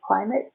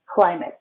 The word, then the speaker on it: climate: do we say climate how do we say climate i long i i y if someone punches you here you go climb up climate climate and we do not say the e climate climate climate climate is